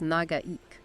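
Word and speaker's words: Nagaike: Now, for the pronunciation, that's Nagaik. It means long pond.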